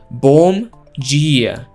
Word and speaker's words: bom dia: Irmãos, bom dia. Jeez, that was some awful pronunciation. Always doing the bare fucking minimum. Say it with me, boys and girls. Bom dia. Bom dia.